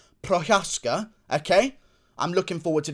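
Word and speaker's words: Procházka: tone anyway either way the surname is pronounced prochaska okay i'm looking forward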